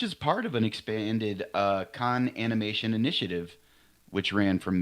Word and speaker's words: Cannes: Cons? It's supposed to be Cannes. Is it Canes? No, it's Why- Cannes. And why do we have to have I these- believe the S is silent, too.